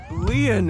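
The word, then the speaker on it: Lien: committing a crime my name leon is spelled l-i-e-n in french leon means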